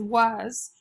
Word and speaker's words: was: is was was is it should say what as was but it doesn't say was it says was so the a's making a short u sound so you would say